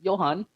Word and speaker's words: Johan: That's uh Jay is silent. So, it's Johan.